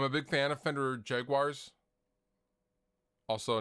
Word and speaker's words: Jaguar: I'm a big fan of Fender Jaguars. Also, notice I'm not pronouncing it like most Americans.